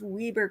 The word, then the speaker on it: Weber: People say Weber County, and that's how it should be pronounced, I think, historically, for the name. It's a Welsh name, and how they pronounce it over there. But this is Utah. This is we've got local pronunciations of things, just like any community does. And so it's Weber County.